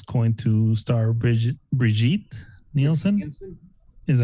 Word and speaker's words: Nielsen: Nielsen?